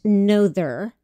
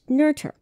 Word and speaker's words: Noether: on this planet emmy nurture her name looks like it should be pronounced nother n-o-e-t-h-e-r but it's actually pronounced nerder she was born amelie